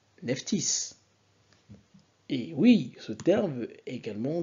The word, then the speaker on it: Nephtys: le S ok donc quand vous dites Neftis vous voyez bien que le nef tis donc le T et le